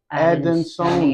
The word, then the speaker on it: adansonii: And how do you pronounce this plant again? Monstera Adansonii, adansonii.